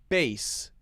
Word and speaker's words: bass: We turned up the bass, just like B-A-S-E. So B-A-S-E and B-A-S-S, those are homophones.